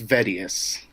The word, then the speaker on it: Vetivs: what is your actual name how do you pronounce that it's Vettius Vettius okay if I were to meet you